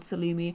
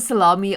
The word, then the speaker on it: Sulani: So we are back with our beautiful two ladies in the island of Salumi. I think it's called Salumi. I want to call it salami, but it's definitely not salami.